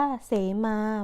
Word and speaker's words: เสมา: คะ อ่าน แบบ แรก ก็ คือ อ่าน ว่า เสมา หมาย ถึง เครื่อง หมาย บอก เขต โบสถ์ และ ก็ อัน แบบ ที่ สอง คือ สะเหมา หมาย ถึง หญ้า นะ คะ ต่อ ไป อ่าน